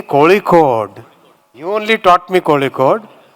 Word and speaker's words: Kozhikode: Say Kozhikode. You only taught me Kozhikode. Why say Calicut? I was always asking what is the right pronunciation. So Muralidharanji told me it has to be pronounced Kozhikode. Not Calicut.